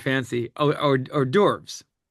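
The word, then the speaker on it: hors d'oeuvres: Oh or or derves.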